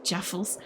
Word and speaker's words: jaffle: Also, it may help to pronounce it Jaffles.